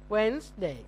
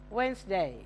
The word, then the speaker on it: Wednesday: w day W Wednesday Wednesday silent D when you write it you must write it you must put the D when you say it don't pronounce the d Wednesday do you know the